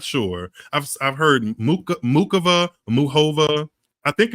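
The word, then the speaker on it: Muchová: She says Muhova. Like she doesn't pronounce the C at all.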